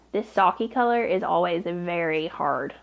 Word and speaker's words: sake: So yes, I know this is pronounced sake, but we hillbillies like to call it sake.